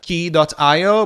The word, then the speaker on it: Quay: on where you live if you're from uh the uk or australia you would be pronouncing uh these words like uh key dot io but if you're in us and pretty much everywhere else in the world you can say quay dot io and you're you're covered